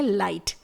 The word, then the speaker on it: light: और लास्ट का वर्ड है लाइट, LIGHT। यहां पर भी GH ये दोनों लेटर्स साइलेंट है और T को प्रोनाउंस किया जा रहा है।